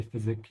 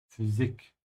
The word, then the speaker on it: Physik: Yeah, again here with the Y, that's pronounced like an U, yeah? So don't say physic, yeah? Physik.